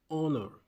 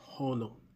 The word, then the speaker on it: honor: This is pronounced honor, not honor. Honor with a silent H.